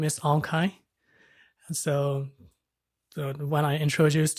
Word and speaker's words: Aung Khaing: names are quite unique and quite difficult to pronounce so my name is Ahn Chi and so when I introduced to like a